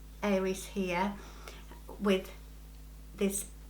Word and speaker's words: Eiris: So I have been sent another watch from a company called Aries. It's spelled E-I-R-I-S. They say that this is fun play on the word iris, you know, the flower.